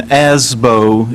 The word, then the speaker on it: ASBO: it comes from and the association likes to use the pronunciation asbo it's a little bit slightly different but I'll read a